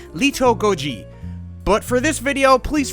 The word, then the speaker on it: Little Godzi: with pronouncing Japanese but a more correct way to say his name would be Leto Goji but for this video please forgive me when I just call him little Goji little Goji lives amongst